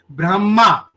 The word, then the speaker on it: ब्रह्मा: या ब्रह्मा शब्दों को ले लिए, ब्रह्मा, हमें माँ आखिरी में पूरा सुनाई दे रहा है और ह साइलेंट सुनाई दे रहा है, ब्रह्मा।